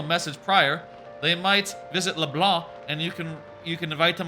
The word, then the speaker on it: LeBlanc: It's the name of the cafe is LeBlanc, and they say it like that. They say LeBlanc. I used to say LeBlanc because I don't know